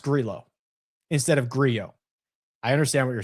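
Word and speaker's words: Grillo: The double L in Spanish is pronounced as a Y. Why has no one told the commentators this? It's Ameliano. Grio.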